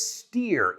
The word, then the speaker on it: steer: So the word is steer. It rhymes with ear. It rhymes with beer. It rhymes with fear.